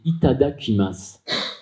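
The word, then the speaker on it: いただきます: Et leur bénédiction, c'est, le mot, c'est Itada Kimas. Alors, je peux vous l'épeler. Itada, comme ça se prononce, I-T-A-D-A, Kimas, K-I-M-A.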